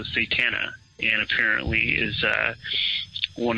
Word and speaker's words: Satana: would identify herself as satana so I guess if you had to spell that you know s a t an like Satan with an A so satana and apparently is uh